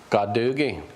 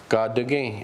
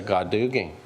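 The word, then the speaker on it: Gadugi: Ga-Du-Gi. Now if you say it wrong, Ga-Du-Gi, it means I just came out of the water. So you have to say Ga-Du-Gi.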